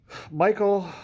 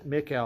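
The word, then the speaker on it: Michel: Violet fragrance and uh Michael uh almyra who's uh or Mikel technically I've been saying his name wrong all these years it's technically it's Mikel on Myra he likes to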